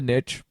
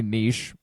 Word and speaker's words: niche: And that's really sort of the point, is to find a niche, or a niche, depending on how you like to pronounce the term, and fill